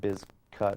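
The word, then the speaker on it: Bizkut: but they changed it because they wanted people pronouncing it biz cut i believe one of the guys that uh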